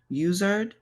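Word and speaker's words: Uizard: Usered, like wizard, but UI and Zard.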